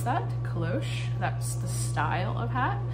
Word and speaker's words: cloche: thank susan for telling me how to um pronounce that kalosh that's the style of hat i've since listed